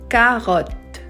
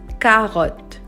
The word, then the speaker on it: carotte: We say carotte, okay? I did not say carotte. I did not pronounce the E at the end. It's silent. So it's just carotte.